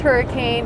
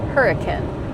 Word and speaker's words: Hurricane: It is not pronounced hurricane, it is pronounced hurricane.